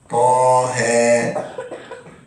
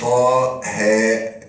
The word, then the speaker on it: طه: والياء والطاء والهاء والراء لما نيجي نطقها في اوائل الصور بنقول ايه ولا بنقول حرف فقط طه ما قلناش طاء هاء ليه ما قلناش طاء هاء لان هكذا تلقيناها حتى وصلت الى النبي